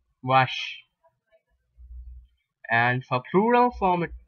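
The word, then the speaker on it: vache: q q u r l l r k pronounce the same way c means Rush wash okay English you call it as v a c h e wash and for plural form it be what CS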